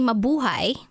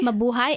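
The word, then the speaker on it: Mabuhay: that you can teach me kind of like Americans Say howdy or what's up um you can say mauhi mauhi mauai m a b u h a y that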